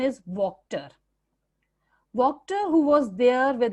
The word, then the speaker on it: Wachter: बच्चों, spelling WACHTER है, it's the name of the blacksmith, but The pronunciation is Wachter.